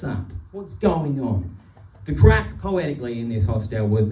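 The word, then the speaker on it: craic: But that was spelled like C A R A I C like in the Irish sense of the word which is like what's the crack which means what's up what's going on.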